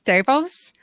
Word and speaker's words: Davos: Dhawan as their ex Davos Davos Davos are ya a guy you pronounce pronounced exactly like the character from game of thrones and Doctor Who which